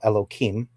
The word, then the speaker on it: Elohim: So the first term that you used, and I'm going to break up the word. It's Elo and then Him, which I will call Elohim.